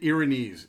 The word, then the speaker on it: Erinyes: know I know there's three different ways to say this Aaron s are there it's an ear ear in ease so ease the earrin ease is how you actually pronounce that it's a legitimate word